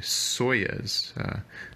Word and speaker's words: Soyuz: audio space uh he started another microphone company soyuz i believe it's spelled s-o-y-u-z some very high-end microphones that recording